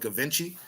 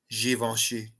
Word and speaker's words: Givenchy: Oh, it's So we're American and we're in America, so I call it Givenchy, That's what but I thought. but it's actually pronounced Givenchy.